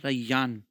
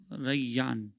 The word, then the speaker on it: ریان: نام کو رکھتے ہیں، اور وہ نام ہے ریان۔ ریان، اس کی انگلش اسپیلنگ اگر ہم دیکھیں تو RAYYAN، ریان۔ اس